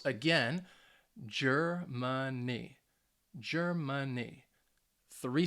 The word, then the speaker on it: Germany: do you guys think so again yes it has three syllables and that stress you should have said the first syllable so the first syllable is going to get that emphasis germany if you got that